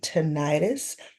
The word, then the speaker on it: tinnitus: to the brain, and tinnitus. Tinnitus or tinnitus, I've also heard it's pronounced.